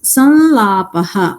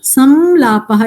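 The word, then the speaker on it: संलापः: So it becomes sanlapaha. Sanlapaha, that's how it's pronounced. Sanlapaha. Or samlapaha is also correct. Why is it also correct? Because sandhi has not happened.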